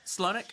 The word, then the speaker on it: Slonik: project named I'm guessing Sloanic or Sloanic. How do you say that? Slonic.